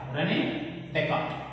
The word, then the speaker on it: Descartes: But you should, in the name you should read as René Descartes. But here it should be pronounced as Cartesian system.